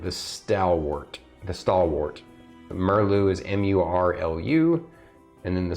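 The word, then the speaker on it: Murlu: who knows under the armor right uh uh merlu is the only one where you can actually see his face uh sorry I jumped ahead sir Angelo brightblade um and then the uh the furbogue is merlu the stalwart the stalwart merlu is m-u-r-l-u and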